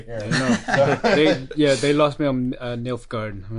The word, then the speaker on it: Nilfgaard: They lost me on Nilfgaard.